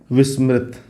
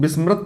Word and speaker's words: विस्मृति: ले लेते हैं आत्म विस्मृति बहुत से लोग बिस्मृत पढ़ने हैं लेकिन याद रखिएगा इस